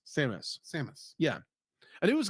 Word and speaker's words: Samus: And one other thing, it's like when Samus. It's literally the name Sam. Yeah. With an us. Samus.